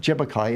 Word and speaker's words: Tjapukai: And we have the Jebbukai Aboriginal Cultural Park, TJAPUKAI, pronounced Jebbukai in the English term.